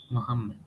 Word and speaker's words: Muhammad: Muhammad. But Oh, a native will not say Muhammad; they will say Muhammad simply.